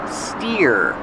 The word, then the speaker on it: steer: steer to the left pronunciation steer like ear steering wheel this is